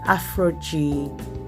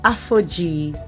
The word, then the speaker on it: Aphogee: the protein treatment i'll be using is the afro g i have said it wrongly the aphogee two-step protein treatment and this is what it